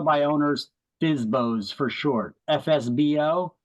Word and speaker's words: FSBO: FSBO, that stands for for sale by owner, or it's pronounced FSBO.